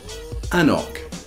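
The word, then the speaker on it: anCnoc: here we go the top 30 most commonly mispronounced Scotch whisky terms haberler and the fantastic whiskey that they make haberler abouna an oak an oak is a range of whiskies produced and then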